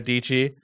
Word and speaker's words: Dietschy: right now so dichi rhymes with PG I I I I